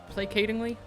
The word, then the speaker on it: placatingly: That's one of the words I placatingly. It's not like a soft C like in sound, right? Placatingly, I assume.